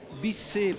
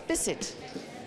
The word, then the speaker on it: Bisset: Here in Brazil we say Bisset, but it's not the way you used to say. No, it's Bisset. Bisset. Bisset. Bisset. Bisset. It's Scottish. Because it's Scottish.